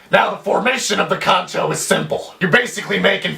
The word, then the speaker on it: Kancho: Pronounced exactly the way it's spelled, Kancho.